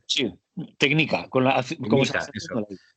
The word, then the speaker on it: Tknika: Porque no lo has pronunciado. Sí, técnica, como se Técnica, hace eso.